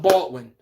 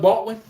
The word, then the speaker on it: Baldwin: Every team needs to draft a Doug Baldwin. Get a guy that you could develop and throw him with Lamar and these mobile quarterbacks where the guy doesn't I said it wrong. I said Doug Baltwin.